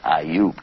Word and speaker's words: Ayub: But his name is Ayub. Can you say Ayub?